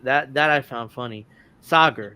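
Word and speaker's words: Saagar: Sager. That's his name.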